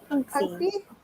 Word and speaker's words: Punksy: Is that Punky or Punksy, or how do you say her name? Punksy. Punksy.